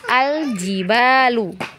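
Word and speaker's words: الجبال: di air nah kemudian di situ ada kata Al jibalu ya jibalu Nah di sini yang panjang huruf ba ya huruf ba diayun ya berarti diayun saja karena dua harokat ba ba ya panjang diayun ya jibalu seperti itu bisa dipahami sampai di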